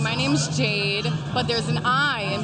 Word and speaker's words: Jaide: My name's Jade, but there's an I in between the A and the D. Spell it. J-A-I-D-E. So everyone gets confused, so I always have to clarify. It's almost like Haide.